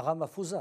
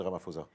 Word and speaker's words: Ramaphosa: voulait, Nelson Mandela, passer la main d'abord à Ramaphosa, à Cyril Ramaphosa, qui était son enfant chéri. On va passer à Ramaphosa, parce que le temps nous presse, je suis désolé. Qui est Cyril Ramaphosa ?